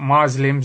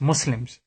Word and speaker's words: Muslims: the the word properly you know it's not Muslims it's Muslims it's with a s so people don't even